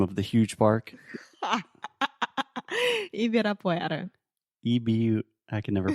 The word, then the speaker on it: Ibirapuera: Ibirapuera. I can never pronounce this. Ibirapuera. Ibirapuera. Isso, Parque Ibirapuera.